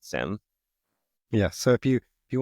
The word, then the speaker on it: SIEM: about the product space they always pronounce it Sim yeah so if you